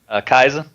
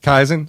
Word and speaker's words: Kaizen: Kaizen. Kaizen. So, it depends on where you are in the United States as to how you're going to pronounce that.